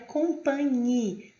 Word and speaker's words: compagnie: Ou também na pronúncia da palavra compagnie.